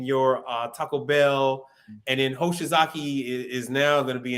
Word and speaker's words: Hoshizaki: Don't say Hosh, because it's like a derogatory term. Hoshizaki. So Hoshizaki, like I said, Manitowoc is going to be in your McDonald's.